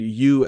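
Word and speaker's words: よう: in english for example it might be tempting to read you as the word you but really it's a two syllable japanese word yo aside from that uh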